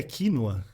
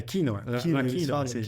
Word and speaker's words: quinoa: é incrível é incrível e você falou a pronúncia é quinoa é quinoa quinoa e ela faz parte daquele famoso Trio